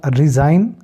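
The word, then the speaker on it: resign: मतलब पिशु होता है इसके अलावा रिजाइन अब जी यहां पे साकिन हो गया क्योंकि जी जो है एन से पहले आया तो इस्तीफा देने को रिजाइन कहते हैं डिजाइन किसी चीज का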